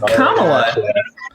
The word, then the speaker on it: Kamala: did she Implement those can you try to pronounce her name right it's pronounced Kamala try again the immediate